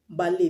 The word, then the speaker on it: ballet: Example is ballet. Ballet, Ballet, ballet. You don't pronounce ballet, but ballet. The T is silent.